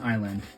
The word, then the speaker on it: island: for a minute but s is silent on island so obviously the S is going to be silent there which listen like I said